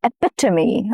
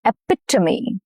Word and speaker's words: epitome: Some words keep their Greek and Latin roots. Here the stress falls on the second syllable, which is epitome. Epitome. Okay. The second syllable is the important syllable, the stress syllable.